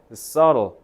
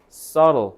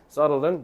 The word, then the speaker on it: subtle: 특히 저 subtle이라고 발음하시면 안 된다. B를 살짝 드시면서 subtle, subtle 이렇게 발음을 하셔야 나중에 듣기 할 때 들려요. subtle은 미묘한이란 뜻입니다.